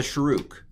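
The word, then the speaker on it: shuruk: called drum roll please it's a shruke and it's an ooh sound um and it's a piggyback letter so this is and that's a shruke all right that's the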